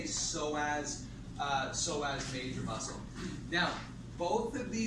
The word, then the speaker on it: psoas: It's spelled P-S-O-A-S, but you pronounce it psoas. You don't pronounce the P, right? You gotta spell it, but you don't pronounce it. So we just say psoas, psoas major muscle.